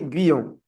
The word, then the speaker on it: Guyon: Alors, bonjour Marc, ça se prononce Guyon? Oui, Guyon.